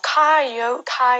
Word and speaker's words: coyote: 아실 거에요 자 코노 테가 있어 코요태 코요테 발음 어떻게 할까요 코요테 이 어 그냥 카이 오타 ei 타 요리 라고 써 주저 코카 이효리